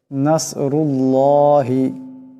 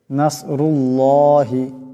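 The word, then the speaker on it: نَصْرُ اللَّهِ: লম্বা করে পড়তে হবে নাসরুল্লাহি এখানে আল্লাহর লামের ডাইনে পেশ আছে আওয়াজ আল্লাহর লামের আল্লাহর লামকে মোটা করে পড়তে হবে নাসরুল্লাহি নাসরুল্লাহি এমন করে ওয়াল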